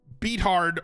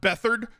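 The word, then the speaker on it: Beathard: against Tampa Bay uh they got run then beat hard played last week and they they did fine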